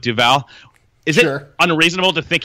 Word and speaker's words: Duval: last night I think that trayon Duval is how you pronounce it now we're learning not Duval but Duval is it unreasonable to